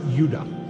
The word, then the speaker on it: Judah: tribes were called Benjamin and Judah more properly pronounced Yuda so this is what